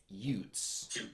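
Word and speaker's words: Jutes: the Saxons and the Utes the the you I believe because in in German the J is pronounced like a y so I believe they're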